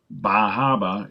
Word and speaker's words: Bar Harbor: Also, Bahaba is how the locals pronounce it, and in fact, there's even some signs to that effect, as well as lobster.